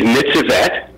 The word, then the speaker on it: Nitzevet: And that's how do you pronounce her name again? Her name is Nitzevet.